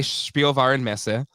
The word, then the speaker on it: Spielwarenmesse: I got invited by Spielwarenmesse. And that's how you pronounce it, Jay.